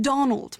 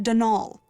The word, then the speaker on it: Donal: caretaker denol Delaney not Donald mind you there's no D at the end so it's pronounced denal that's the way you're